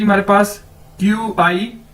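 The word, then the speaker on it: 八: बाद है जी हमारे पास नेक्स्ट वर्ड नेक्स्ट अदद पा बी ए पा चाइनीज में बी को कैसे प्रोनाउंस करते हैं पी के तौर पर पे के तौर पर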